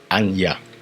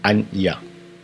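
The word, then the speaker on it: אני: Le jeu en hébreu c'est Anya. Anya. Il s'écrit de la sorte.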